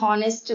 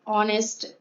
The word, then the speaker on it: honest: An honest man. It will be noticed that the words hour, honest begin with a vowel sound as the initial consonant H is not pronounced.